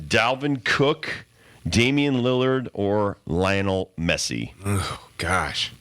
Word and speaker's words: Lionel: cook Damian Lillard or Lionel Messi oh gosh Nick pronounced Leonel I think it's Lionel Lionel I call him Lionel